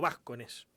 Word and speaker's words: Vascones: Y en ese marco pude establecer contacto con Galo Vascones, o Vascones, como me dijo que se pronuncia en realidad.